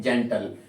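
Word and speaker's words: gentle: दे रहा है ई और जब भी जी के बाद में ई आई वाई आए तो उसका आपको प्रण ज करना पड़ेगा अगर स्पेलिंग में जी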